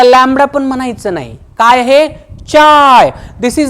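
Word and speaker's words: χ: Greek letter ज्याच pronunciation याच pronunciation केलं जात रे चाय चाय चहा नाही चाय सी एच आय काही जण त्याला ची पण म्हणतात काही जण खाय पण म्हणतात ठीक आहे ना सी एच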